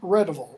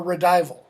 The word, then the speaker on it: Redival: Okay, Orual and Redival, or Redival. You'll hear that name pronounced differently.